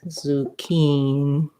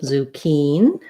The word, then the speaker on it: zucchini: spell it two c's zucchini me has stress on the key syllable this first letter ooh letter u says oo zoo zoo just like the word the zoo zookeen so we have you